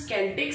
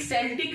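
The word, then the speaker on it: Celtic: अब ये मत बोलिएगा ये सेल्टिक होता है, तो प्रोनाउंसिएशन इज केल्टिक। सेल्टिक भी बोल सकते हैं और केल्टिक भी बोल सकते हैं।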